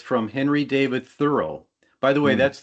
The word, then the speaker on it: Thoreau: 17 years old, and it's from Henry David Thoreau. By the way, Hmm. that's the correct pronunciation of his name I got from his great great granddaughter in Concord, Massachusetts years ago.